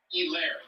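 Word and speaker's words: Edwards-Helaire: For Clyde Edwards. Hilaire, the H is silent.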